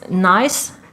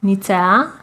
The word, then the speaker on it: Nice: It's Nice, Nicea, Nice. Yeah, is it pronounced as nice though?